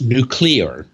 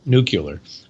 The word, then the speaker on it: nuclear: a nuclear engineer and of course it's nuclear you know if you look at how the is spelled n Ule e a r right not nuclear but and a lot of people say nuclear but but I don't